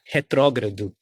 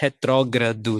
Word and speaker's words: retrógrado: I think it was the first time I ever pronounced the word, I said it out loud, the word retrógrado, which in Portuguese, it's quite difficult if you think about it, retrógrado.